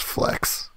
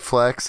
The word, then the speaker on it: Flex: It's pronounced flex. What did I say? You said flex, it's actually flex.